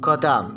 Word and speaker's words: Gotham: Dan diucapkan Gotham seperti kata kambing, mek. Gotham itu mek ya. Waduh. Nama yang mirip dengan huruf-huruf mewakili bunyi T diikuti oleh bunyi H yang hening daripada bunyi TH.